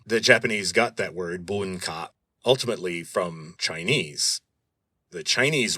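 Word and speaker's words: bunka: Civilization in Japanese is buna. Buna. You would spell that B U N K A.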